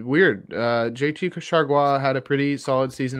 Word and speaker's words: Chargois: How do you pronounce his last name, Jay? J.T. what? Chargois.